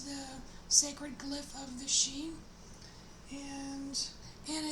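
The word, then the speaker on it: sidhe: sacred glyph of the sheen and and it's um the she is it's spelled s-i-d-h-e and i believe it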